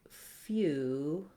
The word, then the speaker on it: feudal: So for feudal, in American English, it sounds like feudal. And you can see there's no vowel in the second syllable. So even though it looks like the word tile, we just say that as a flap, d, and a dark L, ul, dull, feudal.